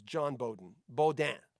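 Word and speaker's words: Beaudin: john bowden bo dan spelt the french way but no one no english person wants to say bo dan so when i got into radio in 83 i think it was i decided to pronounce it bowden so it's john b-e-a-u-d-i-n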